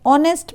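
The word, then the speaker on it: honest: the officer is एन ऑनेस्ट मैन ऑनेस्ट word का starting H से हो रहा है बट इसका जो प्रोनंसिएशन है उसका बिगिनिंग उसका स्टार्टिंग ओ से हो रहा है एच यहां पर हिडन है आवर ऑनेस्ट दोनों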